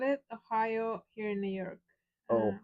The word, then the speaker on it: Ohio: Don't they read their license plate where it says OHIO? That's four-letter word is three words. O, hi, O. Yeah. No, 2 words. It is 3 words. 3 syllables.